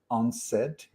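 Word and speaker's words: UNCED: was called u-n-c-e-d when when you pronounce it it's unsaid i love these type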